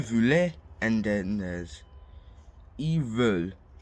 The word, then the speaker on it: veulent: So then there's nous, voulons, and then there's vous voulez, and then there's ils veulent. Do not pronounce the NT at all.